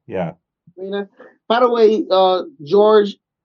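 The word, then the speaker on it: Rhaena: It's like it's pronounced differently. It's yeah. No, you're right. It's Raina. Yeah. Raina.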